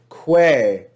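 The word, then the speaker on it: quae: we see the word quay q-u-a-e in english letters and we see the ecclesiastical pronunciation of that diphthong is pronounced just like e that's an example of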